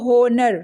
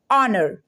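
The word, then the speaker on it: honour: अ क्या लिखा है ओ ओनर नो नो नोनो ये है ऑनर ऑनर इसको यहां पे एच ओ साथ में है तो चच को क्या कर देंगे साइड में करेंगे इसको कहेंगे आप थोड़ा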